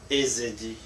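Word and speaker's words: Ezidi: Et ils n'arrivent pas à prononcer Ezedi. C'est difficile pour C'est eux. vrai. Donc ils prononcent ça comme Yézidi.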